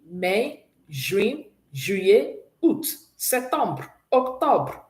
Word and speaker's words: mai: Mai.